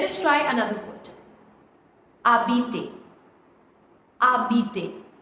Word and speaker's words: habiter: Habiter. Now over here H is silent because it is a vowel.